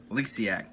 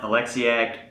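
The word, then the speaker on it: Oleksiak: Eliziac, I'm pretty sure is how you pronounce that.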